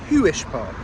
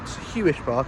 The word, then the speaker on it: Huish Park: I believe it's pronounced Hish Park, not Huish Park as my brain wants to call it and almost certainly will at least once in this video.